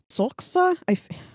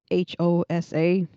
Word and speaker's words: Xhosa: Uh, Xhosa. Oh. It's one of the languages of the African continent, which is Xhosa. But they say it. It kind of sounds you're clicking your tongue, but you're not really clicking your tongue.